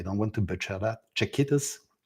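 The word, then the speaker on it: Czechitas: Please correct me if I don't pronounce it correctly. I don't want to butcher that. Chiquitas.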